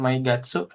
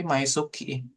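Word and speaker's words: 毎月: Tapi ini bukan My Gatsu ee Tarisang. Tapi Maisuki yang ini yang paling depan.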